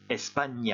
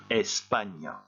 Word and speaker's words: España: ou là et bien ce type de placer sur le n est très important parce qu'il transforme la prononciation du n en yeux un petit peu comme gm en français je répète et vous répétez juste après moi espagne 1 espagne un petit peu exagéré la prononciation explique le mot suivant